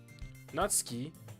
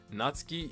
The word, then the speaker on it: Natsuki: Before Before I get shot in the face, it's Nazski. Right. Natski. Natski is the right way of saying it. Natski, right? Natski. Natski. Natski.